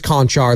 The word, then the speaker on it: Konchar: You were right. This is Konchar. There's another one that's like Chonchar somewhere else, but this is You were correct. New pronunciation.